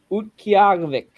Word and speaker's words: Utqiagvik: Do you know how to pronounce that? You know the city where Brandon Peely's from in Alaska? Utqiagvik. Utqiagvik. Ukiag?